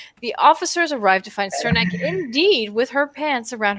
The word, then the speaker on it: Cernak: So it was either Kernak or Cernak. No. I'm pretty sure it's Cernak.